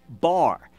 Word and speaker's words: bar: It's a little Hebrew word. It's just one syllable, bar.